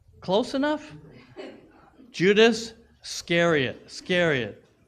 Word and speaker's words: Iscariot: Judas Iscariot.